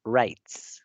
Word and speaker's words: writes: W muda, writes.